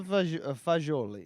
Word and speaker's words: fagioli: A G is going to be a J. J. these are Fagioli.